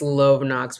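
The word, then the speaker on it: Lovenox: no I'm doing the I think it's love knocks but my brain sees l-o-v-e and automatically says love but I think it's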